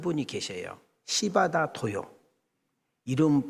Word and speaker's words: 시바다 도요: 시바다 도요. 이름 발음을 잘해야 돼. 시바다 도요.